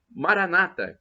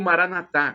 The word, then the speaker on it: Maranata: E eu clamo do dialeto de Jesus, o aramaico, Maranata, como dizem os nossos irmãos separados, os protestantes ou evangélicos, ou Maranatá, como dizemos nós católicos, com a tônica na última sílaba.